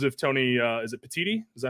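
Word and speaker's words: Petitti: and who knows if Tony uh is it petiti is that how you say it yes um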